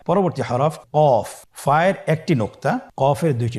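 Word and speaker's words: ق: কফ উচ্চারণের ক্ষেত্রে অবশ্যই 3 আলিফ টেনে পড়তে হবে।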